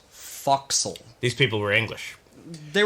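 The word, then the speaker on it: forecastle: Foxhole Foxhole it's actually it's actually spelled for Castle but it's pronounced foxel these people were English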